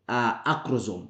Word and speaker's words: acrosome: We have the scientific way how we pronounce this. So we call them the acrosome.